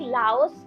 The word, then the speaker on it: Laos: इस वीडियो में मैं कहीं-कहीं जगह पे लाओ और कहीं-क जगह पे लाओस बोल सकती हूं क्योंकि आप ये दोनों को प्रोनाउंसिएशन कर सकते हैं।